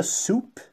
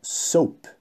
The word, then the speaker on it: soap: Não diga soup, porque soup é sopa. Então é soap.